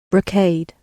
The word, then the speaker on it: brocade: Brocade or broade? How do you pronounce these? Brocade.